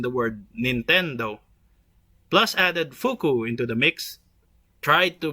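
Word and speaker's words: 福: The Japanese character in the circle is pronounced fuku and means happiness, fortune, or wealth in English.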